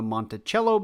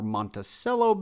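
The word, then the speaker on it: Monticello: really far away from the Montichello building or Monteello building depending on the pronunciation you prefer.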